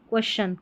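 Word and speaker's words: question: इसका उच्चारण शन नहीं होगा। टी आई यू एन जैसे स्पेलिंग रूल्स रहते हैं उसमें एक्सेप्शन भी रहते हैं। साउंड रहेगा तो उसमें थोड़ा कुछ स्पेलिंग्स ऐसी रहेगी वो एक उच्चारण से कुछ अलग निकल कर आएगी। जैसे यहां पर ये क्वेश्चन नहीं पढ़ा जाएगा। इसको क्वेश्चन पढ़ेंगे। टी आई ओ एन को यहां पर च पढ़ा जा रहा है।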